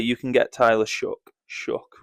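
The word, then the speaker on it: Shough: Shook which it is pronounced for not many picks.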